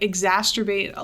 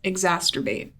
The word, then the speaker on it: exacerbate: Exacerbate. That feels weird. It's weird to say. Exacerbate. Nope. You're putting a T. That's not what I said. You're putting a T in there.